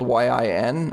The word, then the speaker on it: Yin: Which, by the way, I think is probably Actually, you know in Chinese pronounced the same as it is in Japanese, even though it's spelled Y-I-N, or at least in Mandarin. I think it would just be pronounced Yin. Yeah. It gets transliterated as Yin, but it's Yin.